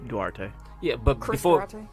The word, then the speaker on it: Duarte: Durante, is that how you say his name? Duarte.